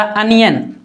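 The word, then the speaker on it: onion: इसी तरह अनियन, अनियन, इसको ऑनियन नहीं पढ़ना, अनियन।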